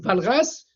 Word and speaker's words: Walras: golf mer ou bien mer mais ça se prononce menner Carl MERER de l'école autrichienne Lyon Valras avec W Walras Valras de l'école donc de euh Lausanne Suisse et